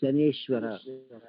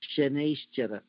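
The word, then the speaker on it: Shanaishchara: Our people, unable to pronounce Shanaish Chara, made it as Shaneshwara. So the correct word is Shanaish Chara.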